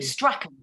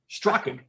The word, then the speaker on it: Strachan: lot of times it's it's pronounced more like with a k so uh very cool